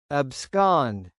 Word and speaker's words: abscond: Abscond, pronounced as ab-scond, meaning to escape secretly.